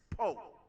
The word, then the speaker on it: Powe: And it's spelled Powe, but it's Poe.